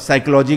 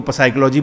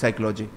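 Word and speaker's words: psychology: ना कि वो जो साइलेंट वर्ड होते हैं कि आप साइकोलॉजी को पसाइकोलॉजी बोल दो, मैंने नहीं बोला ऐसा, लेकिन अगर मैंने ऐसा कुछ शब्द किया तो उसको बोलेगा कि गज्जू इट्स साइकोलॉजी और बता क्या हो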